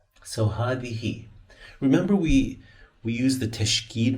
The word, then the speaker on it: هذه: So هذه.